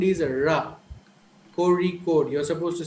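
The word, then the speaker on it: Kozhikode: who are not aware of this sound will pronounce it as cozy cozy code so but actually the sound is a ra corey code you're supposed to say corey code and there's a place in kerala called aleppo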